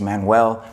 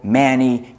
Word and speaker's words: Manuel: sounding name I myself my first name is Manuel and growing up people pronounced in all sorts of different ways Manuel Manny Emmanuel Manuel Emmanuel and as a student